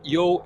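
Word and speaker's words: 柚: Youxiang and Youhong, Yo and Yo are actually two different tones. We have the first one is falling, so is Yo, and the second one is falling rising, Yo.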